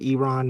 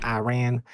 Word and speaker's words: Iran: You're supposed to pronounce it. Iran, not Iran. And then I always thought it was Iran from like the weird days, but yeah, apparently it's Iran.